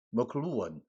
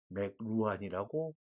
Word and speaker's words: McLuhan: 그러한 글로벌리제이션을 기정사실로 내다본 미디어 이론가이자 미디어 과학 기술 철학자인 마셜 머클루언, 우리 한국에서는 대개 마셜 맥루한이라고 표기를 하고 발음하고 있습니다. 실제와는 상당히 거리가 먼 그런 발음이고요. 마셜 머클루언입니다.